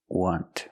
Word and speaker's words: want: The T in want is a stop T. You don't release it.